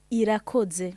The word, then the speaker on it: Irakoze: Comment tu prononces? Irakoze.